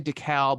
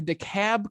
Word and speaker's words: DeKalb: I'm from Illinois, and there's a county up there that literally is spelled the same way, and you say DeKalb. So my whole life, it's been DeKalb, and I come down here, and people are like, bless your heart, it's DeKalb.